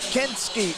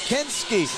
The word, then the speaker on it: Kenski: on to you said you didn't say my name right it's kenski it's kenski so tonight we're gonna